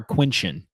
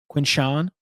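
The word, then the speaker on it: Quinshon: Is it Quinn Sean or Quincin? Quinn Sean. Quinn Sean. Well, I I' I've pretty I'm pretty sure I've been saying it wrong, but anyway.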